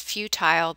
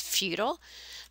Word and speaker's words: futile: Some people pronounce this futile, but the actual correct pronunciation is futile.